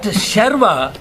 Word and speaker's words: Sharva: Sharva, Sarva. See how beautiful the mantra is in using a small change in how you pronounce the name makes it all the different. Makes it all completely different.